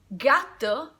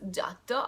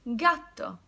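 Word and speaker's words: gatto: the pronunciation is stronger gato means cat I don't pronounce giotto I pronounce gato ghetto it's followed by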